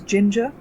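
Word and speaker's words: Jinja: understand we're gonna use ginger which is a weird word which rhymes with ginger ninja to display data on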